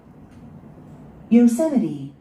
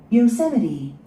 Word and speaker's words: Yosemite: Yosemite, Yosemite, Yosemite. 이음절이 오죠? Yosemite. Yosemite, Yosemite. 네, 미국에 있는 유명한 국립공원, 요세미티. 우리는 이걸 요세미티 국립공원이라 합니다. 요세미리. Yosemite, Yosemite.